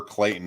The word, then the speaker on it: Clayton: I know exactly where Clayton is it reminds it rhymes with Dayton and it's near Dayton